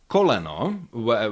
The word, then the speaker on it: koleno: Yeah you have coleno which contains three vowels and they are pronounced fully. Oo co. Yeah, there's no uh there's no diminishing quality of the vowels in unstressed syllables.